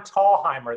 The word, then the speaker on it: Thalheimer: it's actually tallheimer the first h is silent so